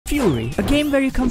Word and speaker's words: Furi: Fury a game where you come for the music and well stay because of the music and no it's not pronounced furry it's fast adrenaline filled and